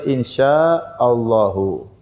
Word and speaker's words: insyaallahu: Qada Antum enggak tahu manakah pengucapan yang benar Insyaallah atau Insyaallah yang benar insyaallahu insyaa itu artinya jika